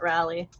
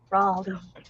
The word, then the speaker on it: Raleigh: personally have looked into Raleigh not Rally gotcha Raley rally hold on I'm I'm being told two different things is it Rally or Raley yeah is it a